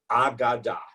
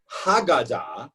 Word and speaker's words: Aggadah: That's the word Agadah, not Haggadah with an H at the beginning or a Hey at the beginning from Passover, but Agadah.